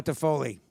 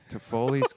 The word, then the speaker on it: Toffoli: Toffoli's guacamole. Toffoli's Toffoli's By the way, guacamole. Toffoli does rhyme with guacamole, Yeah, it Scotty.